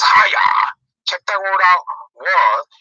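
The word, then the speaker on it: הָיָה: That word became in the Hebrew is pronounced haya.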